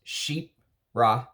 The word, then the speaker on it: Chypre: dive into it so first uh shifra is pronounced sheep ra and it's basically a fragrance family founded in